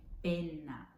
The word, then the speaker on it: penna: Então, você tem que pronunciar ela realmente penna, penna. E a outra, pena.